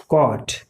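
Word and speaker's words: caught: उसी तरह से कॉट, तो कॉट में भी यहाँ पे GHT है, लेकिन कॉट हम जब प्रोनाउंसिएशन कर रहे हैं कॉट का तो इसमें GH कहीं आ रहा है, नहीं आ रहा है।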